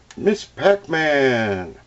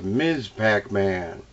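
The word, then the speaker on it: Ms. Pac-Man: one of my favorites miss pac-man i always say it wrong it's ms pac-man what is the deal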